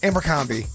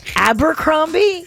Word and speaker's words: Abercrombie: you like amber come Amber combi no that's not it how do you say it Abercrombie you look at Abercrombie